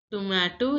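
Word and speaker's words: tomate: Native French speaker again tomato is pronounced as tomat in French too much now listen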